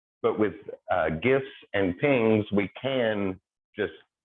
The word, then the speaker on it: PNG: little abbreviation dot png which we typically pronounce as ping so uh pinging images